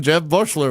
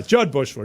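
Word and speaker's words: Jud Buechler: Well, I was watching them when Jed Bushler was running point. Yeah, Judd Bushler. Don't get his name wrong.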